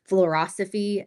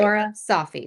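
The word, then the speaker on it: Florasophy: Flora Sophy, like philosophy.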